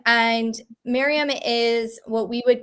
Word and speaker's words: Maryam: i'm sorry um but yeah it sounds like mayhem yeah sometimes she's made